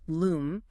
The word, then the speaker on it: lam: Chanting lam, pronounced loom, resonates with the root.